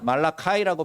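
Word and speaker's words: Malachi: 사람이 이름입니다 선지자 이름입니다 말라카 이라고 발음을 하지만 말라 키라고 우리는 그렇게 씁니다 말라기 도 의학의 선지자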